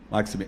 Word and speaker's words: Maxime: muito bom gostou muito Maxime eh Bom dia primeiro queria saber como é que pronuncia seu nome se é Maxime Maxime Qual é a pronúncia Maxim Maxim Maxime Muito obrigado